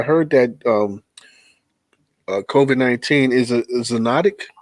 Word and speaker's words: zoonotic: guys, because I heard that COVID-19 is a zoonotic.